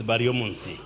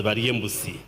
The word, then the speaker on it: Bariomunsi: For the sake of Honorable Anite, my name is Bariomunsi. One time when I went to Bugisu, they pronounced my name as Bariembusi.